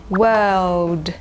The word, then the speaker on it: world: แบบ fetch นะ คะ ก็ จะ เป็น แบบ ไม่ ออก เสียง ตัว R ดัง นั้น เอา ตัว ออก นะ ฮะ แล้ว ก็ ออก เสียง ว่า World World ว้าว เว้า อินเตอร์ เว้า